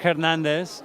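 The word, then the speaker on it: Hernández: Isaac Hernandez with an accent on the A because I haven't lost my accent yet.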